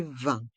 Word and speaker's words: vin: de boisson est mué dans le mot V le I et le N pour le son 1 20 et le s est mué la carte des boisson la carte des vins la carte des boissons